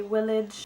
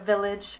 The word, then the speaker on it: village: speaking in English they will have that soft pronunciation of V so I've heard people say willage instead of Village or invented instead of invented and I've heard